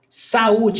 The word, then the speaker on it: saúde: When we separate saúde, we've got 3 syllables. So it's sa, u, oops. Saúde. Então, nós temos hiato. Vogal, vogal. They're in separate syllables. So, hiato, U, there is the accent.